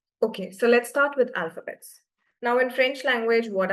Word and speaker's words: alphabet: Um alphabets in French are called as le alphabet. Everyone please repeat. Liz alphabet. Lay alphabet. Keep on le alphabet. Alphabet. Alphabet. We don't pronounce the T.